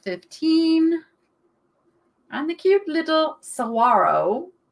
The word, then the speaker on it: saguaro: lisa is at 15 and the cute little saguaro see didn't pronounce the g i don't know it